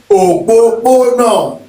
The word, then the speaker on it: òpópónà: So we've got òpópónà. That's got 4 syllables in it, which is an interesting word.